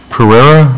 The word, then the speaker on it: Pereira: Pereira? Is that how you pronounce his name? Yes. Yes. How much Correa. Money? Thank you. I spoke. You got to roll the tongue when you say it, I guess.